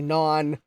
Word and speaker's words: non: Stian says, the word for no in French is actually non, but the second N is silent.